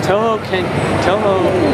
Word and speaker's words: Touhou: go attack somebody else i also could never pronounce the name of this game correctly so it's touhou wait what again uh okay is i know